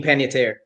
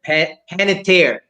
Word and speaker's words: Panettiere: Hayden Panettiere. Panettiere. Or Hayden Panettiere. That is correct for 2 points. I think we can accept any of those pronunciations. Any of those pronunciations is going to be fine.